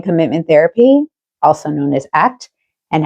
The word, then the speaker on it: ACT: Acceptance and commitment therapy, pronounced ACT, not ACT, is an evidence-based form of cognitive behavioral therapy that focuses on building something called psychological flexibility.